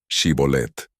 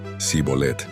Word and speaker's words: Shibolet: Les pidieron que pronunciaran la palabra Shibolet. Los efraimitas, que no podían pronunciar el sonido shi, decían Sibolet, y por lo tanto fueron ejecutados.